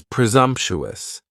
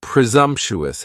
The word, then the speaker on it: presumptuous: Next is presumptuous. And presumptuous has four syllables. And the stress is on that second syllable. And the s almost sounds a little more like a z. Presumptuous. Presumptuous.